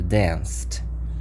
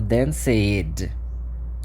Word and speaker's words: danced: isso que é collected do mesmo jeito que se eu pego o dance no passado danced se eu tento colocar o id aqui se eu falo danid parece que eu tô tendo um um ataque cardíaco sei lá um derrame